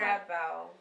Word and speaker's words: TresBelle: How you pronounce it? TresBelle. Okay, I knew I was gonna say Tres.